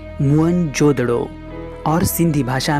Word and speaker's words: मोहनजोदड़ो: कोशिश करते हैं मोहनजोदड़ो शब्द का सही उच्चारण है मुन जोदड़ो और सिंधी भाषा में